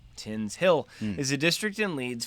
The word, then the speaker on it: Tinshill: Tinshill, pronounced Tinshill, is a district in Leeds, 4 miles north of Leeds city centre, West Yorkshire, England.